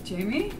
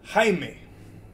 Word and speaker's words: Jaime: Jamie? It's pronounced Jaime.